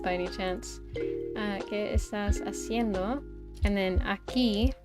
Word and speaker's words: haciendo: But it's spelled with an H, but it's like silent. Or it's implied, you know? Haciendo.